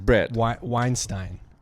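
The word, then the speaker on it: Bret Weinstein: they're not no they're not um uh brett brett weinstein that's how you say it yeah yeah i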